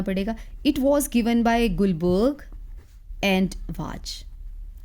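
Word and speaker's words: Guldberg: इट was given by गुलबर्ग एंड was. Spelling तो गुल्डबर्ग एंड वाज है, बट बोलते गुलबर्ग एंड वाज है।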